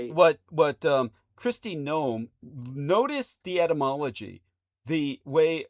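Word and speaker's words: Noem: The way like G N O M E like a garden gnome, but her name is spelled N O E M but it's pronounced the same way.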